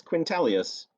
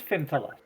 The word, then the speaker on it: Fintalus: So Who's Quintalius? Orin's replacement, the gnome's replacement. Oh, Fintalus. Did I have it wrong? Yes, it is Fintalus. Fintalius, not Quintalius. right.